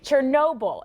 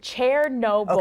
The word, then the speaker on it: Chernobyl: The site of the worst nuclear accident wasn't in Chernobyl. It's actually pronounced Chair-noble.